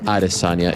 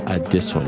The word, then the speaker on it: Adesanya: the point across that it's not adesanya it's add this one yeah you get what